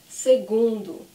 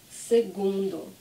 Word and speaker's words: segundo: first one is algonz so the gu is this gu sound segundo segundo okay so the g-a-g-o